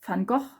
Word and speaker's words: Van Gogh: pronounced if you like go with the dutch pronunciation and this is also fungal and the last spread is basically again about